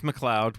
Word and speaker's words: McLeod: Okay, now, That's how that's spelled. Leod. now if you're out there listening, you know that's McLeod.